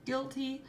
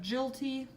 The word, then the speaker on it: guilty: of age and then another example is guilty instead of jewel T we got you helps that to be hard G sound which again is good